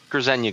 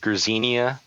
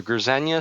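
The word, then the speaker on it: Grznia: z n i a I had mistakenly said Ginia uh and he Alex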